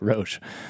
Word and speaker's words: Roche: Well, it's funny because my mother pronounces it just like you did. Yeah, but okay. My dad used to say Roche. Roche? Yeah. What's your preference? How you said it is perfect. Perfect, Roche.